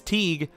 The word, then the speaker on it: Teague: Oh, speaking of league, rhymes with league is Teague, Beastie, but he's in the same conference as Elliott and such, so don't know if he's going to do that.